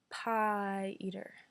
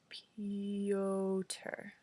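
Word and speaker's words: Piotr: at all correctly ha p i ET r its pie eater he winced I read it again no pioter he stared at me pay odor I've tried I was determined to get it right mr.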